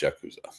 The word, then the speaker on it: Yakuza: Is it pronounced Yakuza? It is pronounced Yakuza.